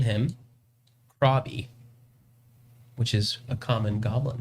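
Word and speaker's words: Crawb: common goblin name yeah my name's krabi hey how's it going not to be confused with robbie robbie or ruby rob not krabby not it it's spelled c-r-a-w-b crab no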